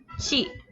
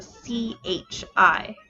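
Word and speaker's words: ち: romanized characters as a c-h-i this is kind of like she in that it changes that sound a little bit to accommodate the e sound it is never pronounced t it is always chi in order to write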